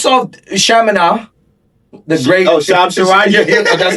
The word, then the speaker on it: Charania: The great Sham Charania.